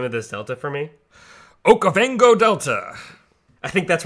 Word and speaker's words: Okavango: Will you pronounce the name of this delta for me? Okavango Delta.